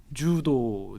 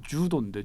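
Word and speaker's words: 柔道: 주도, 일본어 발음으로 주도인데 주도기 때문에 비겁하게 얘기하면 안 돼.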